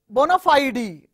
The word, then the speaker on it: bona fide: me give you some more words born of bona fide e generally we say one of ie it's not